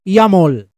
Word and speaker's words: YAML: Extension that yaml or it is pronounced as yumol inside your project folder